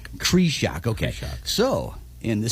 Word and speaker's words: Krieshok: So for these many years, we've been saying the Pete Krieshok Project. However, I believe somebody was wrong. How is it pronounced? Krieshok. Krieshok.